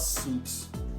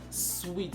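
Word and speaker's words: suite: a bookcase hotel uh it's not suits it's sweet like the switch you live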